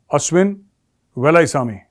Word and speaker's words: Ashwin Velaichami: Pronunciation Ashwin Velaisami.